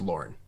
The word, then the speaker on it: Lorne: It's Lorne, and it's pronounced Lorne. Okay. I did it like Lorne Michaels, so I'm glad.